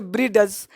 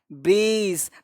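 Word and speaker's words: bridge: बहुत सारे लोग इसको पढ़ लेंगे ब्रीडज, ब्रीडज, बडजेट, लेटजर, ऐसे नहीं पढ़ा, एडज, रीडज, ऐसे नहीं पढ़ना है। इसको पढ़ना है ब्रीज। तो बोलो डी चुप हुआ कि नहीं, इसी को कहते हैं साइलेंट लेटर।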